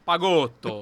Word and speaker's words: Pagotto: A pronúncia tá certa? Tá certo. Pagotto.